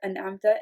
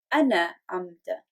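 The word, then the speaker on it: أنعمت: Now, when the word is mispronounced, when the sukoon is mispronounced, okay, what happens is we turn it into ana amta. Ana amta. What we are essentially doing is breaking the word into two when it is actually one word. Okay? In being it one word, we have to say as an amta, and the mispronunciation is ana amta.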